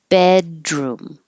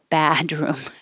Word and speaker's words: bedroom: but be is the Keep your jaw more high. Don't let it sound like ba. Badroom. Bedroom. Bed. More closed. Bedroom.